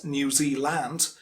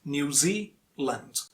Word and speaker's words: New Zealand: zealand just like switzerland it's not new zealand it's new zealand new zealand and sas on the second syllable new zealand so that's